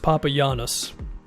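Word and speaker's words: Papagiannis: in 2016 you're just Papa Yanis because apparently the G is pronounced like a y according to basketball reference he played in the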